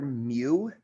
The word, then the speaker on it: mu: so this is the greek letter mu mu it's like something between an m and a u but astronomers often use the symbol mu for micro uh in